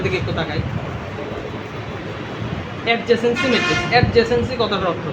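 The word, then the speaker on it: adjacency: এটাকে বলে দেখেন বইয়ে লেখা আছে এডজাসেন্সি ম্যাট্রিক্স। এটাকে কেউ ইংরেজি উচ্চারণ এডজাকেন্সি।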